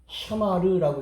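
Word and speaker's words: שָׁמַר: 요것은 뭐냐면은 샤마르라고 읽어요. 샤마르.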